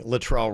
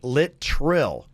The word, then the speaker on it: Littrell: Somebody said, yeah, you were pronouncing Littrell wrong. It's Littrell, like Littrill. Lit and then trill.